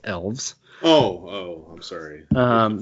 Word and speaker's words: Aelves: think of these new AES AES well if you had read the recent white dwarf you would know that it's pronounced elves oh oh I'm sorry